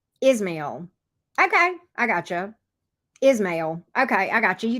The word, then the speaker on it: Ismail: Ismail. Okay, I got you. You told me how to pronounce it.